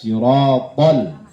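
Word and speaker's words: الصراط: Tadi ayat Ihdinas Shiratal Mustaqim pada huruf shad tasdidnya. Ya, maka bacanya ihdinas siratal, ihdinas tuh, ihdinas. Nah, dimonyongin ya, jangan disamakan dengan huruf sin, shad, shad, so, ya.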